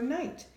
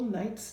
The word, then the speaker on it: knight: If a word starts with K-N, like knight, the K is silent and you just pronounce the N.